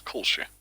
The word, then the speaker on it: Kolsc: Oh, I've been pronouncing his name wrong. It's Kolsch.